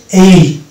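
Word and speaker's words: aisle: অনুরূপভাবে এটা হচ্ছে এইল, এটা উচ্চারণ হচ্ছে এইল, এস বাঁধে যাচ্ছে এবং শব্দটা উচ্চারণ হচ্ছে এইল।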